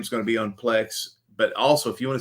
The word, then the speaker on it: Plex: I don't know what Plex is. It rhymes with flex.